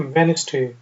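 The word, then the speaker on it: Wednesday: मंगल ट्यूसडे बुध वेनसडे यहां प डी जो है वो साइलेंट है इसलिए इसको हम कहते हैं वेनसडे वेनसडे बुध वेनसडे जुमेरात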